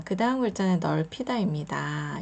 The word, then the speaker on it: 넓히다: 되겠습니다 자 그다음 글자는 넓히다 있니다 여기서는 다시 비읍 받침이 소리가 나지 않죠 그리고 리을 받지만 소리가 나서 넓히다 자 그런데 여기서 피읍 소리가